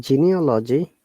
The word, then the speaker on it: genealogy: amazing matter is that in genealogy genealogy first g is soft g and the side elastic